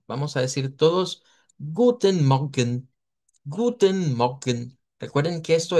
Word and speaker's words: Morgen: Ok, bueno, ahí Oscar sí, la R le sale muy R fuerte del español. Trate de decirlo como Morgen, Mog, Guten Morgen. mejor, ahí está mejor. Guten Morgen. Eso es una de las cosas que debemos de trabajar.